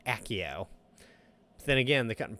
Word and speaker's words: Accio: I always called it ACO until the movies, and they called it Accio.